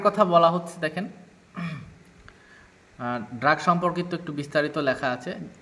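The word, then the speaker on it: drogue: আচ্ছা, এরপরে দেখি আমরা আচ্ছা এখানে ড্রাগের কথা বলা হচ্ছে, দেখেন ড্রাগ সম্পর্কিত একটু বিস্তারিত লেখা আছে যে দ্য ওয়ার্ড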